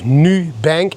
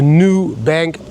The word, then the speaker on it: Nubank: Not new, N-U, like the Dutch say, Nubank platform. I don't know how you pronounce it in English, but in Dutch we say Nubank platform, Nubank platform, and Nubank platform, whatever it is, guys.